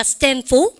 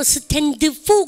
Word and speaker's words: stand for: 자, stand for. 근데 아무로 stand for 그러면 안 돼요. 왜냐하면 영어는 제일 끝머리에 있는 자음은 크게 발음하지 않습니다. stand for 대고 합니다. 아시죠? 그래서 stand for 드 발음 먹으십시오.